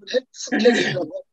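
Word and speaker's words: Heschel: 자, 유대 성서학자 아브라함 조슈아 헤겔의 얘기를 하고 마치도록 하겠습니다. 자, 유대 성서학자 아브라함 조슈아 헤겔. 이 사람은 헤스켈인데요. 발음은 헤스켈이라고.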